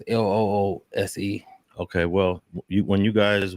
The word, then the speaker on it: Luce: Talking about that Luce Cannon This is spelled fair Luce, use, fair use, fair use. Loose.